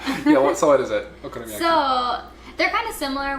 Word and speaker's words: Okonomiyaki: Well, now that you mention it, there is this dish called Okonomiyaki. That was really good pronunciation.